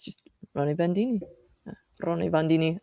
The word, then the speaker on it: Roni Bandini: Roni Bandini. I'm saying it wrong. But No, yeah, you're saying perfect.